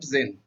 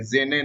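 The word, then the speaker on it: Jane: जेने नहीं है या तो जेनी नहीं है, लेकिन उसको सही उच्चारण होता है जेन।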